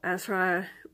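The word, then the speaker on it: Asrai: The Asra, which is a type of Scottish fairy, maybe mispronouncing that slightly, A-S-R-A-I is how it's spelled.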